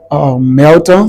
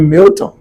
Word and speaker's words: Melton: the way they feel as I spelled it Melton. Some people stay is M E L T O M. Some people still call me Milton.